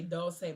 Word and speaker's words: Dolce: She's not, I say Dulce, but it's spelled like Dolce and Gabbana, but it's spelled like that.